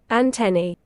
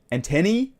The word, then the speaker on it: antennae: You do want to stress on the second syllable, the te syllable.